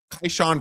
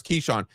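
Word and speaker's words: Kyshawn: Uh Keshan George, I apologize that I've been pronouncing it wrong. I was corrected on buckets. Kaishan vers Keshan. Keshan George and Chris Middleton are doubtful.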